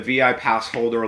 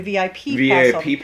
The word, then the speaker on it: VI Passholder: we're excited for that proud of you for pronouncing that right VI passholder yes a lot of people do VIP that's VI passholder pass which is very yeah it's very incorrect very incorrect but uh thank you